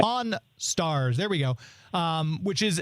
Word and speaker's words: Pawn Stars: But I like, because you think of Vegas, I think of Pawn Stores. I don't necessarily think of because there are shows like Pawn Store. I'm trying to say it correctly. Right. Pawn Stars.